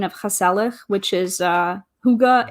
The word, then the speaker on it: hygge: haselek which is uh hygge it's like designing your home to be comfortable and warm and inviting it's like a decor style and that is spelled h-y-g-g-e and is a swedish word hygge so i think